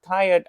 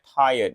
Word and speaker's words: tired: I didn't think about how tired I was and how much I didn't want to face my problem. Aku enggak mikir seberapa capek. Tired. Ini bacanya tired. Bukan tire tapi bacanya tired ya.